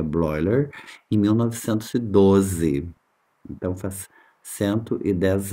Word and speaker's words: Bleuler: A palavra autismo foi empregada pelo psiquiatra suíço Eugene Bleuler, lê Bleuler, mas pronuncia Bleuler, em 1912.